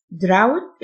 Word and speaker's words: drought: إتمام منهج دراسي بنجاح drought الgh silent يعني جفاف أما draft